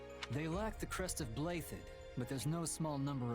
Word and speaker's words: Blaiddyd: They lack the crest of Blaiddyd, but there's no small number of nobles who might crawl out of the woodwork claiming royal blood.